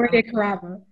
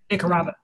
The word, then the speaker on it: Roy DeCarava: Roy DeCarva, did I say it right? Sweet Fly Paper. Roy DeCarva. DeCarva, thank you.